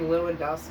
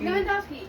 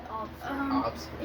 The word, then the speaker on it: Lewandowski: You mean Lewandowski? Lewandowski. Yes, that's what I meant. Whoa. Wow. Well, The top scorer in the German Bundesliga, number 9, Obsky. I abbreviated it. Obsky.